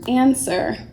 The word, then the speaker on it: answer: there's a time to answer and says though the W is completely absent and sir silent W answer please answer the